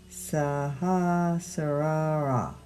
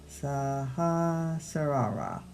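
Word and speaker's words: Sahasrara: Learning to pronounce it. Saha sar. Saha sara. S a h a s r a r a.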